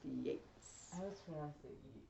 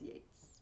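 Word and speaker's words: Yeats: the next poet we have is william butler yates his name is spelled yet but it's pronounced yates it's yates but that's okay okay i was gonna say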